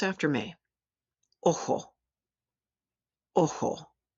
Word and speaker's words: ojo: Where there are some regional differences, the Spanish letter J sounds like a hard H. We've already seen one of these words, so pronounce after me. Ojo, ojo.